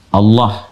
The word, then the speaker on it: Allah: Dibacanya tetap mengembalikan kepada diksi aslinya tulisan aslinya dalam bahasa Arab yaitu Allah.